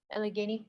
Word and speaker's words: Allegheny: you got there it's called how do i pronounce that allegheny thank you mike see how i don't think